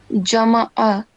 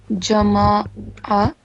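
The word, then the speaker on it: جَمَعَ: So here it's jama'a, but you said jama'a. So again, you instead of fatha, you pronounced it like vertical fatha.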